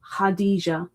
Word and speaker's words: Khadijah: So it kind of looks like K da. I guess you've got to ignore the K completely cuz it's a silent K. But it is pronounced hada had maybe not